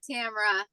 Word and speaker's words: Tamara: Is this Tamara? Is that how you say it? Yeah, Tamara. Yeah.